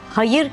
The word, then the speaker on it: hayır: Hayır kelimesinin kökeni aynı İkisinde de a sesi Uzamaz Hayır şeklinde kısa söylenir yalnız vurgu farkı vardır evetin zıttı olan hayırda vurguyu ilk heceye yaparız iyilik anlamındaki Hayır kelimesinde ise son heceye yaparız hayırlı bir iş hayır veya hayır günler derken Bakın bu vurgu farkı ortaya çıkar gelelim tahin kelimesine Arapçada